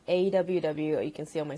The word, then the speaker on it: AWW: I work as a producer for a company called AWW. You can see on my screen, it's pronounced AW.